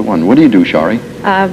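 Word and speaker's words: Sharie: to do my best to say it right shie that's perfect that I do them both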